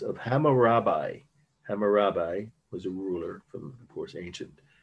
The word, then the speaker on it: Hammurabi: Steely is how it's pronounced, of Hammurabi.